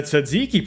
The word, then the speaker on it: tzatziki: The tzatziki pronunciation is fighting for its life.